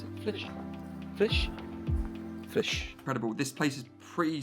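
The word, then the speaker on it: Flix: We're here in Sebes National Park, here in Flish, how do you pronounce it? Flish.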